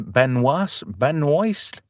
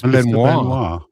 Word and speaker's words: Benoist: Is it Melissa Benoist? I think it's Benoit. Ah. Like the Benoit Like the wrestler. Like as in Chris Benoit.